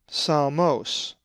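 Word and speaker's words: ψαλμός: the lowercase psi is psalmos, which means psalm, and is number 5568. The accent is over the omicron, psalmos.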